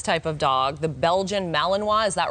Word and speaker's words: Malinois: Okay, so obviously this type of dog, the Belgian Malinois, is that right?